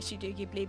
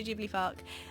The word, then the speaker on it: Ghibli: stuff out in Japan and I know it's pronounced Studio Ghibli don't come for me in the comments it's just as a child you were raised calling it sudokibly because you watched it on Channel 4 and